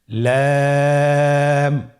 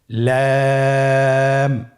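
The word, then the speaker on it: لام: লাম হরফটি উচ্চারণের ক্ষেত্রে অবশ্যই বারিক হবে এবং 3 আলিফ টেনে পড়তে হবে। আপনারা আমার সাথে বলুন লাম।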